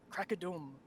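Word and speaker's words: Krakadom: so first stop is crack a dome crocodile we were just debating before this that's how you pronounce it yeah they've removed the umlaut over the o for fifth edition which makes a lot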